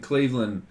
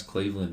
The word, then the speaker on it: Cleveland: And when you pronounce Cleveland, you don't pronounce it land.